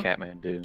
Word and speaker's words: Kathmandu: I thought you didn't pronounce the H. Oh, don't you? Kathmandu. Kathmandu.